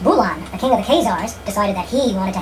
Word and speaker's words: Khazar: fierce barbarians called the Khazars or the Khuzari. Since most Americans can't pronounce the guttural Khazar, I'll pronounce that name the way it's spelled in English, Khazar.